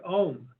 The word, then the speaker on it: Om: is the use of the word om Au M as it's spelled in English and that has a